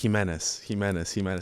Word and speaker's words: Jimenez: And I was like, guys, it's just Jimenez. I kept saying it, and I'm just like, it's he and Menace.